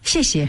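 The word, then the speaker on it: 谢: Xie.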